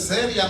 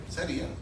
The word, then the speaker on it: sería: tú pusiste seria entonces seria no rima con día para que rime tiene que tener que el acento en la i porque una cosa es seria y una cosa es que sería una cosa muy diferente